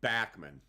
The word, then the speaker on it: Bachman: I love Randy Bachman it's actually pronounced backman it's Randy backman Randy